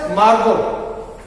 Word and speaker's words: Margot: Margot, T is not pronounced, T is silent. Therefore, it is Margot.